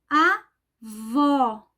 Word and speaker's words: avó: morando ou indo visitar ó aberto vogal aberta observem sempre o pronúncia com a posição da boca o a vó nesse caso a palavra é feminina e recebe assento gráfico avô avó avô fechado